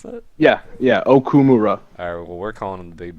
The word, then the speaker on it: Okumura: Is that how you pronounce that? Yeah, Okumura.